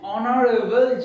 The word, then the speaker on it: honorable: The proper pronunciation is honest, not honest. Okay. AR, HEIR, not AR, AR. So an AR, an honorable judge.